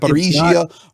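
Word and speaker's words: Запоріжжя: Ukrainian It's not. Zaporizhia, Russian Zaporozhia. Yeah.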